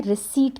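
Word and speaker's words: receipt: रिसिप्ट का देते हैं पी जो है यहां पर क्या है साइलेंट है ठीक है पी क्या है साइलेंट है पी को हमने साउंड नहीं करना हम लिखेंगे रिसिप्ट जिसको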